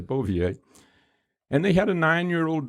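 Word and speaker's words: Bouvier: his last name was is it beauvier is that's where you pronounce it okay bovier and they had a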